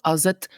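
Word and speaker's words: ass et: Yes, this is haut as het ganz kaal. Haut as het ganz kaal. And this as het is pronounced as if it was only one word.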